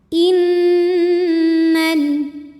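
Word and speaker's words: إنّ: Innal, nunnya dihukumi gunnah musyaddadah atau wajibul gunnah atau nun musyaddadah sebab ada nun yang bertasydid. Cara bacanya dengung, bunyi n-nya tahan sampai terasa getaran hidung kurang lebih 2 harokat.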